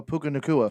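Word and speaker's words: Puka Nacua: Oh, Puka Nakua.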